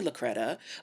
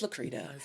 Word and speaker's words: Lacretta: That is the way that it's spelled. So I understand that you would call me Lacretta, but it's Lacretta.